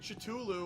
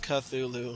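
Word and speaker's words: Cthulhu: is chulu or whatever the you pronounce it dude I'm going to it's not pronounced chulu Phil it's pronounced culu I think it is wait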